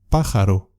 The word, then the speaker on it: pájaro: Pájaro, pájaro, pájaro. Las palabras agudas son aquellas cuya sílaba fuerte es la última.